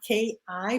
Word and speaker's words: KI: I don't know what we're going to call this age, the AI age, which is really funny because in German it's K-I, but I is pronounced E, so it's K-I.